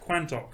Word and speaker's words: Quantock: so years on the Quantock Hills, Exmoor, Dartmoor and Bodmin Moor. it's like Crantock Hills? Quan. I thought you just had a problem with your speak. No, yes, it's not Crantock, it's Quantock.